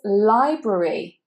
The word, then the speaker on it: library: And here you want to make sure that you're saying both of the R sounds, library, library. That A is, of course, I'm sure you can guess by now, it is a schwa, library.